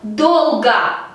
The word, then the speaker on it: долго: Por lo tanto, la segunda O la vamos a pronunciar como A.